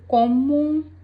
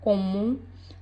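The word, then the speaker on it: comment: सो कोमो। सो इ एन ए यू वो ओ की sound निकालती है। कोमो टी नहीं बोलेगी यहां पे।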